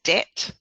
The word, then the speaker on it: debt: could represent a sound a bTW if you pronounce this as Det just the single T a te for paste